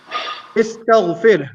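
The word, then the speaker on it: استغفر: So the hamzat al-wasl here, hamzat al-wasl, as you know, it is not always pronounced. It is always only pronounced if we start with it. So here, since we're not starting with it, we won't pronounce it.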